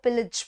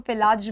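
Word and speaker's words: pillage: बहुत सारे लोग इसको पिलाज भी बोल सकते हैं, ठीक है, बहुत सारे लोग इसको पिलेज भी बोल सकते हैं, ठीक है, बट इसका जो प्रोनाउंसिएशन है वो है पिलज, पिलज।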